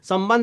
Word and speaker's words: संबंध: हमेशा ध्यान रखें और इसका उच्चारण उसी प्रकार से होना चाहिए इसका उच्चारण अब संबंध है तो अगर आप य